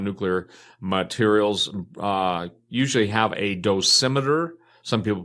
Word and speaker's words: dosimeter: who work around nuclear materials usually have a dosimeter. Some people pronounce it dose meter, which is basically a miniature recording Geiger counter